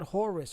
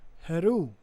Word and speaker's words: Heru: traced their lineage to the god Horus or heru which is correct uh how you say it correctly Haru was the son